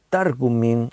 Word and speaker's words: Targumín: Tiene el acento en la, sería Targumín o Targumes.